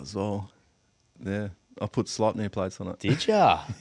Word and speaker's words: Sleipnir: Sleipnir. Done. Is that how you say it? Sleipnir. Sleipnir, yeah.